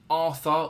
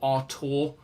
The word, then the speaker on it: Arthur: up to this season, we've got Arthur, or Artur, depending on how you want to pronounce it, formerly of Barcelona before moving to Juventus.